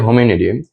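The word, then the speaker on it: Hominidae: হয় হচ্ছে Homo needy, Homo needy, sorry, এটা হচ্ছে হোমোনিডি না, হোমিনিডি, হোমিনিডি, এটার উচ্চারণ কি? হোমিনিডি, ডি এ ই, হোমিনিডি।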